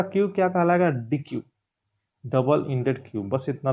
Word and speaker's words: deque: देखिए यहाँ का डी क्यू, यहाँ का डी क्यू अलग है, ठीक है। स्पेलिंग देख लीजिए, इसमें बस लिखा है DEQUE, ठीक है। तो डी क्यू एक प्रकार का क्यू